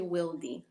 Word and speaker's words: Wildy: yeah, my name is actually pronounced. It's a little bit like tricky because it is spelled out Wildy, but it's actually Wildy. Oh, Wildy. Yeah. It's Spanish alphabet, so the I is not pronounced that way. It's just Wildy.